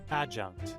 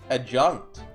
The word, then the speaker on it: adjunct: It's considered to be an ad a ad a junked like it's similar to the word like adjacent. How do you say that? Adjunct. Adjunct.